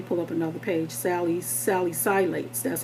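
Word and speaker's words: salicylates: a t e s Sally silat and that's how you pronounce it I thought it was Sally cets cuz I thought it had another c in there but it doesn't it's Sally silat and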